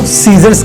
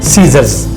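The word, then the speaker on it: scissors: कैंची, कैंची को सीजर्स कहते हैं। आपने इसे सीजर नहीं कहना, आपने सीजर्स कहना है, यानी एस को अदा करना है और सी को साइलेंट रखना है, सीजर्स।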